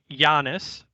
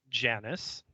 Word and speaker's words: Janus: Giannis, properly pronounced Janus, is indeed the two-faced god of Roman mythology.